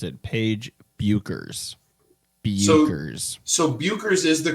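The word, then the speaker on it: Bueckers: us to pronounce it Paige buers buers so buers is the correct pronunciation according to google B yo o- krz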